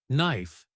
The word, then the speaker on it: knife: For example, knife starts with a K, but we don't say the K.